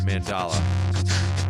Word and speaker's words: mandala: Steve said I did indeed pronounce it correctly. Mandala.